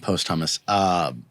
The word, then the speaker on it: posthumous: Not posthumous.